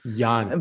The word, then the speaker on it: Jan: And it's the German pronunciation. Jan.